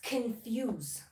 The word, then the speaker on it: confuse: The word is confuse. Confuse. Fuse. ببین تلفظ دقت کن روی فه تاکید داره.